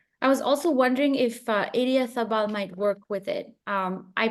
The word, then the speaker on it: Idiazabal: be pronouncing it wrong. Idiazabal, like Idiazabal, yes.